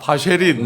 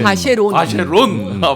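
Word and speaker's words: Vacheron: 그래서 전계환 대표 스픽스의 전계환 대표는 계속 반클라프 하니까 댓글에서 반클리프라고 막 이렇게 영국식 저기도 발음인가요? 해주셨는데 네, 바쉐린, 네, 바쉐론.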